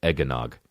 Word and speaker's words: eggnog: it eggnog there's also one of those words where you can't help but add a third syllable even though it's not there eggnog it's like you become